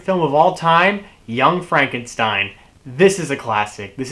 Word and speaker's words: Frankenstein: Frederick Frankenstein played by Gene Wilder he wants it to be pronounced Frankenstein because he hates being associated with the Frankenstein's you know referring to the